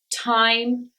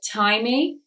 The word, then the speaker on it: time: final E so said time e Portuguese speaker Spanish speakers I'm talking to you now the e is silent at the end of these words in fact E is